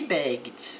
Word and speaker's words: begged: He begged, aqui não pronuncia o e.